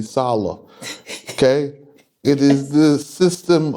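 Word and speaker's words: Selah: it's there I mean it is spelled c law in the King James but that sea law is actually solo okay it is the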